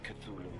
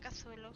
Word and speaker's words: Cthulhu: There lay great Cthulhu and his hordes, hidden in green slimy vaults,